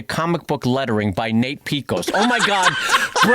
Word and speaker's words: Piekos: It's spelled p i e k o s, which I think is Greek. Is that Piekos? I believe it is. Yes.